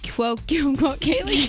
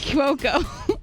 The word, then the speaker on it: Cuoco: name always have it hard especially when it's pronounced wrong kaylee kwokumoki cuoco ouch some celebrity names are so easy to